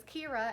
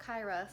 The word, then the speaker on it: Kira: So right now I'm editing and watching Anthony Padilla's video with Kira, and I realized her name is Kira and not Kyra, so I apologize, Kira, for saying your name wrong this entire video.